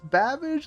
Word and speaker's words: Babbage: a good old Charles Babage, the computer guy. Classic Charles Babage. I remember his name because I thought his name was one of the funniest things ever cuz it rhymes with cabbage.